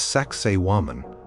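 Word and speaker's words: Sacsayhuamán: High above the ancient Inca capital of Kusco in Peru stands Saxwoman often pronounced like sexy woman which makes it memorable.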